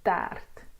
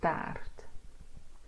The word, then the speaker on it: taart: And funny enough, you get the similar sound, but this E does not have the circumflex on top of it. So it is paard and taart because of the R.